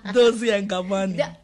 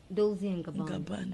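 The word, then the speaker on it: Dolce & Gabbana: Dozy and Gabani. Yeah, the way you pronounce this.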